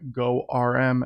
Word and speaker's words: GORM: and go is using go rm as i call it i think some people call it gorm there's a few different ways that you can you know essentially pronounce it but if we uh